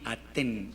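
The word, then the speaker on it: אתן: Aquí dice atem, aquí aten, esto es ustedes mujeres, o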